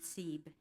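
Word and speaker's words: CCEEB: Jerry Secundi, President and Chief Executive Officer of the California Council for Environmental and Economic Balance, pronounced SEEB.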